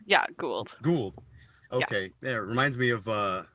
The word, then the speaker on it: Gould: bro is pronounced gold or how is it pronounced yeah Gould okay yeah it reminds me of uh a